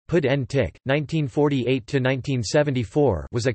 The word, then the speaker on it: Puig Antich: salvador Puig and ik Catalan pronunciation pedantic 1948 to 1974 was